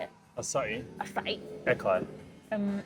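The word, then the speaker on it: açaí: Acai? Acai. Acai. Nope. Proper pronunciation, acai.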